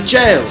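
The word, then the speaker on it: gaol: We went an hour south to the Trail Bay Jail, which is spelled G-A-O-L, Gay!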